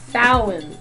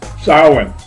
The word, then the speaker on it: Samhain: ancient Celtic festival of Samhain. The British, say it. Samhain. Samhain, yes. The H is silent.